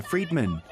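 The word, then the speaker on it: Friedmann: created by physicist Alexander Friedman whose surname is pronounced similarly to Free Man online where negative messages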